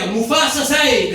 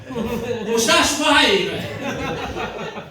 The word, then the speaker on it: Mustafa Saeed: It's like, what are you, Mufasa Saeed there, are you? Mustafa Saeed.